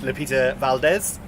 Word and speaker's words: Lupita Valdez: So we're joined with Lupita Valdez.